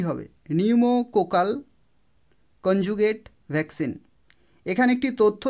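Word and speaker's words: pneumococcal: এটা তোমরা মনে রাখবে উচ্চারণ হবে নিউমোকোকাল কিন্তু পি দিয়ে শুরু হয় তো সেক্ষেত্রে অপশন ডি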